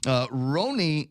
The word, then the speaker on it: Roni: It's R-O-N-I. It's a tenderoni. It's like tenderoni. Macaroni? Macaroni. That's not how it's pronounced? Oh, man. Oh, there we go. So, Ronnie, no. Oh, Roni.